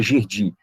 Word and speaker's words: Gerdy: Nós temos um tubérculo, conhecido como tubérculo de Gerdy, né, escreve Gerdy, né, com Y, mas pronuncia Gerdy.